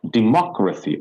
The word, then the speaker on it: democracy: This is one, two, and third. The third one we have to stress.